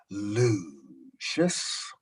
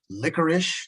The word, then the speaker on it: Lucius: Now, notice that I said my name rather slowly, Lucius.